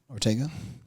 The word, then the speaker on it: Ortega: Ortega.